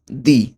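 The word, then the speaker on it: di: দি। দয় রস্যিকার দি, নট ডি। ওকে? দি। দয় রস্যিকার দি। এটা হবে গেল আমার ডি।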